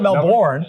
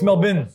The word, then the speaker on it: Melbourne: Because you don't say the last part of Melbourne. Louisville. Melbourne, the last part. Melbourne? It's not Melbourne. Melbourne. It's Melbourne. Melbourne. It's actually like BIN.